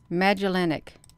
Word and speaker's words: Magellanic: Magellanic.